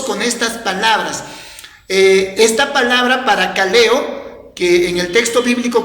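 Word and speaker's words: παρακαλέω: Esta palabra confortar viene de una palabra griego que se pronuncia como parakaleo.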